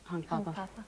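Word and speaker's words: Hunkpapa: And what about the title of the album, Hunk Papa, or how do you pronounce it? Hunk Papa.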